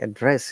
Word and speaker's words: address: think guys once again because it's a verb we have to stress in the second part how do i address it you can see